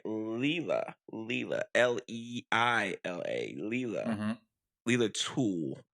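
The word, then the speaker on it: Leila: moonlight called uh i think i think i pronounced her name right leela leela l-e-i-l-a leela leela tool uh she's a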